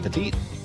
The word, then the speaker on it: Petite: Petite.